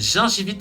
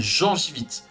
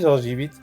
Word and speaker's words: gingivite: saucisse, mais pour moi, c'est une gingivite et pas une gengivite. Comme vous l'aviez prononcé, pour moi, vous l'écriviez Jean avec un E comme dans gencive. Ah non, non, je l'ai dit, gingivite.